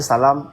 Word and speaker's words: salam: Bon, shalom avec Salam, ça se ressent mais quand tu prononces, tu vois, c'est pas pareil. Oui. La différence de la prononciation là, c'est quoi ? C'est le chat. C'est le chat. Le chat et le Il y a l'homme, il y a l'homme aussi. Le l'homme aussi avec le lâ c'est pas c'est pas il y a pas besoin pour ça mais c'est surtout le chat et le ça qui